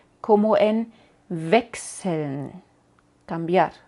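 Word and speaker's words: Wechsel: una S como en vexel cambiar o vaken crecer Así que chs es x y no sh y a veces también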